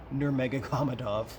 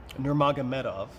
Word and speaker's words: Nurmagomedov: he lost a habib nur mega kamadov oof i just butchered that really bad nurmagomedov nurmagomedov everybody knows he's mad that